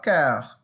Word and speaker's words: cœur: cerveau, the brain, le cœur, the heart. So we have corps, which is the body, cœur. So notice the difference in pronunciation. Corps, cœur.